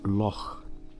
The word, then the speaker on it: Lough: Well, there is a huge lock. They spell it the Irish way. L O U G H, I think.